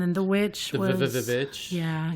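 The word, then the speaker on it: VVitch: And then The Witch The was Vich. Yeah, you deleted the two V's and added a W. It's the V's. I know it's the V's, but you don't pronounce it with V's.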